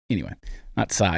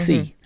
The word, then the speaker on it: psi: It's not psi, it's c.